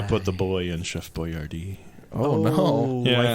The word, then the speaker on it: Boyardee: it was Chef Boyardee, but it was spelled differently. Why would because they he was change the spelling? because he was Italian. It was spelled like correctly, but then they went phonetically because yeah.